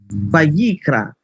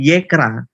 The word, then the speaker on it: Vayikra: Vayikra. Bukan yekra. Beda, brother. Yikra.